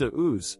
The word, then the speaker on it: Deus: While Austrian startup Deus, pronounced Deus, is a complete unknown, the company has recruited proven partners for its first vehicle, the electric Vian hypercar.